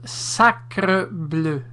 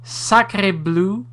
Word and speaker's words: sacre bleu: Here's some coaching in regards to saying the proper appellation, pronunciation of sacre bleu. It's not sacré bleu, it's not sacré bleu, it's sacre bleu.